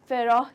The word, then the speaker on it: Pharaoh: English में फेरोह ही कहा जाता है, फेरोज, ठीक है। ह बहुत ज़्यादा स्ट्रांगली नहीं प्रोनाउंस किया जाता है, फेरोह, ठीक है।